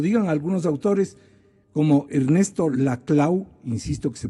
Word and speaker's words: Laclau: Lo primero, que el populismo sea positivo, que lo digan algunos autores como Ernesto Laclau, insisto que se pronuncia la clau y no la clau.